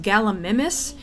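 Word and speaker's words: Gallimimus: gamus first of all I'm pretty sure it's pronounced galam mimus since the second part is the Latin word for mimic also galam mimus belongs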